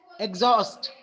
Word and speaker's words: exhaust: let's say there is a word exhaust. After X there is a consonant, but it is being pronounced as za.